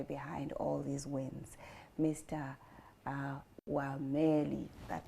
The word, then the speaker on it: Wameli: Wameli, that name disturbs me. You said it right. Yes, Wameli.